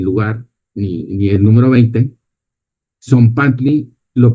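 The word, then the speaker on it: tzompantli: Son panty lo pronuncias así y quiere decir el la hilera de las calaveras.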